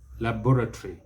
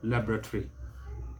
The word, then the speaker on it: laboratory: difference is this that the british will stress the second syllable laboratory laboratory but the americans stress the first syllable laboratory laboratory so same one